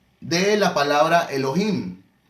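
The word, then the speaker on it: אלוהים: el tema de hebreo y cuando encuentres hoy no es para que pronuncie hoy sino elohim elohim pues entonces como llevaba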